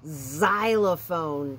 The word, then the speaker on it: xylophone: x-ray we see x in this word xylophone but do you hear an x i don't i think did you say we hear a d well you are right and there's a xylophone that is spelled with an x but it really isn't let's practice making some